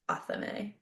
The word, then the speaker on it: athame: It's pronounced Athame. It's Athame.